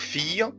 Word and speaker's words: fille: leur fille زي ما خدنا قبل كده ان ال ILLE تنطق إي، يبقى leur fille جوزيفين.